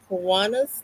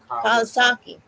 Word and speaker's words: Kawasaki: And he is raising money to help in the research for the Kiwanis disease. Am I saying that right? Kawasaki.